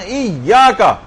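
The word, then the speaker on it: إِيَّاكَ: ہی میں ایاک نعبد، یہاں ایاک تشدید لگی ہوئی تھی. تشدید میں 2 دفعہ حرفوں کو بولا جاتا ہے، اور لوگ عام طور پر پڑھتے ہیں ایاک نعبد و ایاک نستعین.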